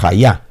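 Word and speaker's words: חיה: Ahí usted la mira escrita K-J-A-I, hay, pero se pronuncia hayá.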